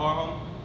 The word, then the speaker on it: HARHUM: So when you think about HARHUM, harmonizing, humming. HARHUM. Think about those two words and then HARHUM.